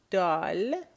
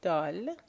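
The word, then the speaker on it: د: So, Dal, that's how you will pronounce the letter in Farsi, Dal.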